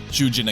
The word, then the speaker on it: Shujin: of the protagonist's school, Shujin Academy. Although written differently, the name Shujin is almost phonetically identical to the Japanese word for prisoner, Shujin.